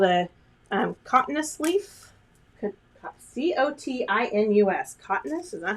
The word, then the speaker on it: cotinus: Okay, now I'm going to come in with this really pretty, this one is called a cotinus leaf.